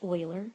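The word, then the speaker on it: Euler: this slide is called Oiler theorem um looks like it should be uler but is pronounced Oiler Oiler theorem has this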